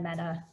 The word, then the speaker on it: Mehta: the introduction and yes our last names are pronounced the same it is meta and meta so my name is